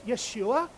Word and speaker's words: Yeshua: Yeshua, Joshua, that's Jesus. It's just, and we just say it in an English American way. We know it's Yeshua or Yeshua. We know that. But we just say Jesus.